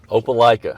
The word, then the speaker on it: Opelika: Opelika. Opelika. Okay. My wife says you pronounce it as I like it? Hope you like it.